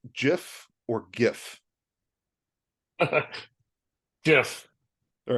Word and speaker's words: GIF: Is it pronounced GIF or GIF? Jif.